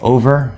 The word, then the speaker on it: over: main point here okay over two syllables is it over over or is it over over something over there over over over first syllable is stressed again two syllables at